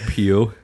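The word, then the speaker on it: Pugh: Probably not how it's pronounced. It's P-U-G-H. Probably like Pew.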